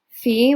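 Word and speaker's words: φ: greek alphabet otherwise um fee which is a ph or f sound they use the letter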